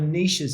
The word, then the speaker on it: niche: different types of buyers the riches are in the niches and i hate the word niche you know it rhymes right the niches and and it's yes